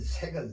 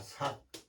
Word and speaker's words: 索: 잘 됐죠 그다음에 찾을 색은 10팩 하나 하나 둘 셋 넷 다섯 여섯 일곱 여덟 아홉 열 차질 색 찾다 하면은 색으로 발음하고 쓸쓸하다 하면은 싹으로 발음해요 색과 삭 주의할 글자입니다 아여 수색할 때는 여기